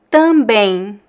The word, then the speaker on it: também: We don't pronounce the M at the end of words in Portuguese. We actually, in this kind of, in this syllable, when you see the EM together, the M is actually pronounced as a E, em. So I actually pronounce two vowels, something like this. Em. Também. Tem. tem. So there's no M sound.